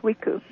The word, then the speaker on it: Wiku: Is that pronounced correctly? Yes, it is, Wiku.